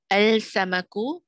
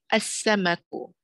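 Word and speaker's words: السمك: Al-samaku becomes as-samaku.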